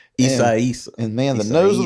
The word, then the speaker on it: Isaias: It was like during Hurricane Isaias, I think is how you pronounce it. Isaias.